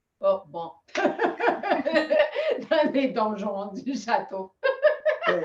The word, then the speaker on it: donjon: Donjon. Oh, bon. Dans les donjons du château.